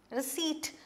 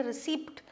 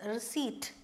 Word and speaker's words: receipt: Receipt, this P is silent. You don't say receipt, it is receipt.